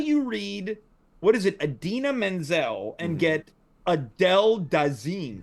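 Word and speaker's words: Idina Menzel: you have to Adina Menzel it. let it Oh, go. let it go. Yeah. Just like a wrap dress. Or if you're John Travolta mispronouncing her name at the Grammys, Adele Dazeem.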